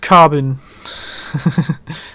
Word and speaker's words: carbine: Like carbine is pronounced carbon. And they don't like it if you pronounce it with a long I. Carbine. They don't like the bine.